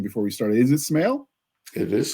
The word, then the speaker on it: Smale: I should have asked you how you pronounce the last name before we started. Is it Smale? It is Smale.